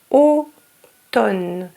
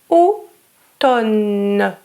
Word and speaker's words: automne: Automne. We don't pronounce the M. Automne.